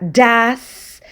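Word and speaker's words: has: a tener gas fíjense se escribe todo es este auxiliar se pronuncia jazz y es el auxiliar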